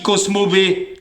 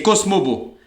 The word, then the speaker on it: Cosmobo: pas prononcer le cheval il dit cosmobé non c'est cosmobo mais par contre vous